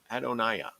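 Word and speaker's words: Adonijah: after con controversy with Adam Jaya Adonai yeah after because the J is silent Solomon is given a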